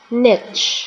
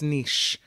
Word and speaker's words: niche: Also American, niche. Oh, okay. Yeah. Thank you. If you're French, it's niche. If you're American, it's that's niche.